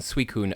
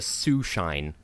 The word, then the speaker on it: Suicune: in high school who insisted on pronouncing the Pokemon suicune a su shine where did they get